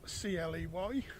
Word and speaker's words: Cley: Cley spelt C-L-E-Y, as in clay, but pronounced Cley.